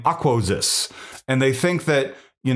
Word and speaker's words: Aquoxis: I don't know how you pronounce it. It's Aquoxis.